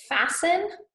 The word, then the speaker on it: fasten: we have the words fasten and soften okay we'll write those on board so fasten and soften okay so this t right here is silent all right so fasten